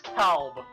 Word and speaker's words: Kalb: And yes, apparently that's how you pronounce the guy's name, it's Kalb.